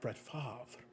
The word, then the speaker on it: Favre: a big fan of Brett Favre and it's pronounced like that with a little bit of extra emphasis but I've got some